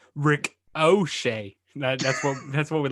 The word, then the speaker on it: Ricochet: nothing the the correct the correct way to pronounce ricochet is rick o'shea that's what that's what